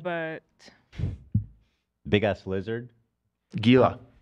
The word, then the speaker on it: Gila: what are those called but big ass lizard Gila Gila monster I like it better with The Silent